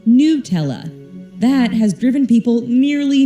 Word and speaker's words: Nutella: Plus, there's nuts in it, and we can say nut with a short U. But there has clearly been some major controversy in how to pronounce Nutella. On Nutella's US frequently asked question page, it's pronounced Nutella.